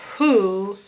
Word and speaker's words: who: But we know the first part is a digraph, WH. And the strange part is the ooh, that's just one O. So we got to learn that by heart, that who is WHO.